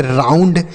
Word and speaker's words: round: उसके बाद ROUND, इसे हम पढ़ेंगे राउंड। क्या पढ़ेंगे? राउंड। आर से र, ओ यू का उच्चारण आऊ तो हो गया राउ।